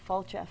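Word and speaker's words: Fáilte: welcome and Irish and pronounce it Fulcher for like you're falling down and cha-cha-cha I felt everyone which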